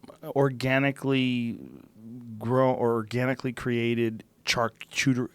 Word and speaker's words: charcuterie: mean there's there's organically grow or organically created charcuterie how do you say it charcuterie just learn this word charcuterie charcuterie it's basically salami mortadella that kind of